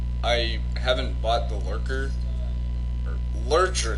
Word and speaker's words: Lurcher: because of the vehicle's name, that part is pronounced Stein, because it's like German. However, I haven't bought the Lurker. Lurcher, not Lurker.